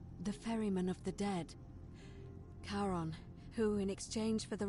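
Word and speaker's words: Charon: it's just as you described it only your pronunciation is a little off the name you heard wasn't Caren it was c h a r o n as in karon the Fairman of the Dead karon who in exchange for the right coin helps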